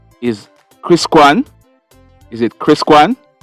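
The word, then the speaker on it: Chris Quan: the argument with is kris kuan is it kris kuan it's spelt c-h r-i-s q-u-a-n anna k echols she's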